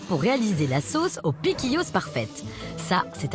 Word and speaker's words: piquillos: à les prononcer aussi on dit piquillos m c'est ça ah